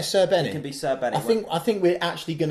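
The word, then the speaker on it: Srbeny: Rob Butler did tweet out how you pronounce it. Srebeni. It's something like that.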